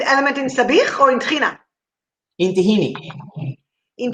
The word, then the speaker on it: tahina: In Israel or in the Mediterranean, how do you say it, Aviv? Tahina. Tahina. All right. In America, you don't know tahina. You know tahini. So you call it tahini sauce.